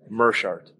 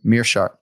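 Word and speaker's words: Meerschaert: to go with all right let's hear Gerald pronounce his name merart oh full name please oh Gerald merart and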